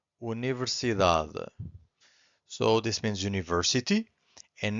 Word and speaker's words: universidade: And now we have this word here, universidade. Universidade.